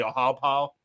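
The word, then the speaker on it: Ohiopyle: spelled Ohio pile but if you're from Pittsburgh you don't pronounce vowels you just say aha pal because everything's just a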